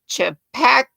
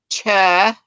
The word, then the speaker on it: Chupacabra: Or D, Chapacabra. Chapacabra? I'm sure that's not how you say it. Chupacabra. Chupacabra. Chupacabra. Chupacabra. The crochet witch is trying to tell me how to say it.